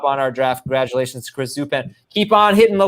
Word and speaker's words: Zupan: now okay chris zub how would you guys pronounce z-u-p-a-n zupan okay great chris zupan congratulations you're